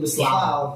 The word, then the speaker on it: besluit: Padahal dari referensi-referensi lama pun sebenarnya sudah ada istilah lain selain basiking, yaitu beslaut. Iya. Beslaut ini tulisannya tulisannya besluit. Bacanya beslaut. Dibacanya beslaut.